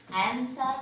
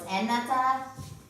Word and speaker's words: أنت: anta, so we Yeah. don't pronounce the fatha on top. Yeah, أنت. So it's anata, أنت.